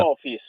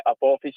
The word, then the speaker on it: Apophis: il titolo della tua canzone, Apophis, come si pronuncia? Apophis.